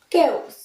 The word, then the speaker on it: chaos: And last one, chaos, chaos, normally CH দিয়ে আমরা চয়ের উচ্চারণ করে থাকি, যেমন CHALK, চক, বাট ইটস chaos, not chaos.